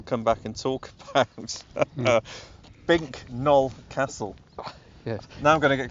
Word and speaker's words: Bincknoll: yeah, if you try and say this phonetically, it's Bincknoll Castle, but apparently you're supposed to pronounce it Bincknoll. Oh, Bincknoll, right.